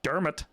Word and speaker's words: Dermot: it was so much no not der mott i can't wait to give you i can't wait till we do your name last name people pronounce his name on their all wrong all the time so it's fine it's dermot dermot kennedy dermot yeah yeah